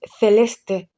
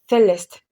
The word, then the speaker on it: Celeste: The correct pronunciation is Celeste, not Celeste.